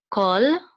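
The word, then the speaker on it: כל: This is a kamatz, and here we have to. This is kol. This is actually kol.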